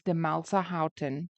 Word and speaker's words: Demelsa Haughton: the surname to Demelsa Houghton, but if I mispronounce it at any stage, please forgive me. It is Demelsa Houghton.